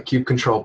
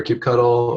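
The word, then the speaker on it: kubectl: I have is can I write a uh Cube control plugin that allows you to say the pronunciation of cube control or cube cuddle or cube c yeah no that'll make exception for that can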